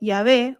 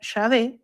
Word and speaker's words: Yahvé: Sin embargo, la mayoría de los especialistas coinciden en que Yahé o Yahvé es la pronunciación más aproximada.